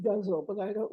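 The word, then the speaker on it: ghazal: is a good guitar which they tell me is pronounced guzzle but I don't like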